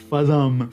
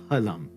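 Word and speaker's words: फलम्: doesn't exist in sanskrit it's not pronounced falam for fruit uh it's palam means fruit it's a very common hindi speaker mistake not allowed anyway with these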